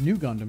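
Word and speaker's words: ν Gundam: And the RX-93 FFV Gundam, heavily based on the Amuro Ray's RX-93, pronounced New Gundam, yep, that appeared in the Mobile Suit Char's Counterattack film, debuted in Fukuoka's Mitsui Shopping Park.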